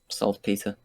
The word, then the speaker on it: saltpetre: Do you have any sulfur or trace phosphor or saltpetre? Is that how you say it? Peter. Saltpeter.